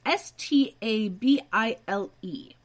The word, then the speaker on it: Stabile: So, Owen here is played by Nick Stable? Stabile? Stable? I honestly don't know how to say his last name. It's Stabile.